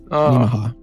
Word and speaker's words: Nemaha: I was going to check that pronunciation of this, and yeah, okay, so Cornell's tank is named Nemaha, that's how you say it, Nemaha.